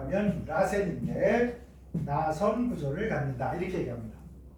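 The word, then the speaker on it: らせん: 일본식 발음으로 하면 라센인데 나선 구조를 갖는다.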